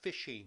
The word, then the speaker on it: phishing: One of the things that is happening quite often is you will periodically get emails that are called fishing emails. And fishing is spelled phi n.